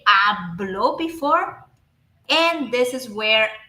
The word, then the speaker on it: habló: But if I add the mark, if I add the stress, if I highlight, I mark the stress on this letter O, and I say hablo, I'm saying a different thing.